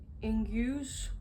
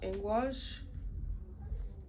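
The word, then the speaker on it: Ingwaz: Ingus, or I've also heard it pronounced Ingwas.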